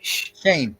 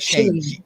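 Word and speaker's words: Schoen: you say his name shane it's pronounced like shane s-h-a-n-e is pronounced jane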